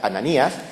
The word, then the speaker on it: Ananías: tenía un nombre hebreo en el idioma griego se pronuncia ananías y ya hemos visto